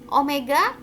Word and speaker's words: omega: Omega frekuensi sudut, ini dibacanya omega ya, jangan W ya.